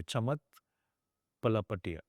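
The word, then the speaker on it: Chamath Palihapitiya: I'm trying to pronounce it the Indian way. Chamat Palapatia.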